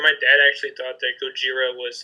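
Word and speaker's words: ゴジラ: dad actually thought that Gojira was like a racist way to say Godzilla but if you read the kanji for Godzilla you actually pronounce it Gojira with the J so fun fact while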